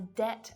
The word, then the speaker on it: debt: B can be silent when it's before a T as well.